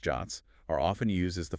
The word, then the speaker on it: JWT: JWTs, pronounced JOTs, are often used as the format for the access tokens that OAuth 2.0 issues.